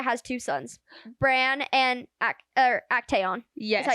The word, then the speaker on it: Actaeon: So we learned that Lydia has two sons, Bran and Actaeon.